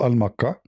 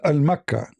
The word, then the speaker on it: Makkah: The Yemeni, they use the word, the letter Ka, in their language, it comes sometime as Qa. Mecca, Makkah.